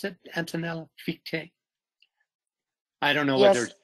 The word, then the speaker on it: Fichte: Fichte? I don't know yes, whether... Yes, because in German you say, for example, von Schelling and Fichte, you say all the, yes, also the last vocal.